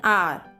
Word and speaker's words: hour: an owl and an R. यहाँ पर R में silent H है, इसलिए an का use किया गया है.